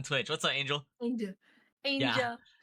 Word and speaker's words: aaynjuhl: what's up angel angel angel how do you how are you supposed to say it Angel it's just angel but the way you pronounce it is the way it's spelled there you go okay